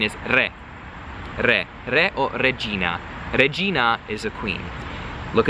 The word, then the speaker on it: regina: The I sounds like a letter E in Italian. Wait, the letter I in Italian sounds like the English E, okay? Regina. Na, that nice round, open, accentuated A, like ah, open your mouth, okay?